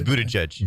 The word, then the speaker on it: Buttigieg: It's Buttigieg. Yeah, Buttigieg. Buttigieg. Okay, I've got to figure that out. I talked to a radio host in that market who told me that Pete Buttigieg, when he interviewed him for the first time,